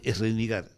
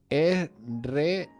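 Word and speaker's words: Srinagar: A ver, dime cómo es Es Renigar. Es Renigar. Se escribe así, es Renigar.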